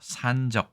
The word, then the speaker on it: 散炙: 자, 일단 이 글자는 산적이라고 읽는데 산이 장음입니다. 그래서 산적 이렇게 읽는 것이 맞겠지만 요즘에는 장단음을 특별히 구별하지 않는 경향이 있기 때문에 아주 중요한 정보는 아니라고 할 수 있습니다.